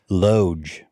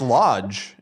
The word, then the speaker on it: loge: Loge. No, it's pronounced Loge. He's right. Yeah, Dan, what the fuck? Wait, really? Loge? Yeah, it's Loge. Yeah. Oh, I stand correct. I thought it was lodge.